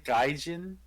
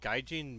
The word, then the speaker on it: gaijin: doesn't sound like a moscow kind of person gaijin it's made by gaijin entertainment in 2011. quick jump in it was first released according to tokyo drift uh gaijin means white man like like like outsider according